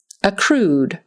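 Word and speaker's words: accrued: a t synthetic synthetic acrude acree with the accent on the second syllable acrude voyages voyages this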